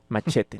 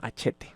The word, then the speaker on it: Hachette: Entonces entró a trabajar a la editorial, no sé si se pronuncia así, según yo sí, Hachette. Machete, no, Hachette.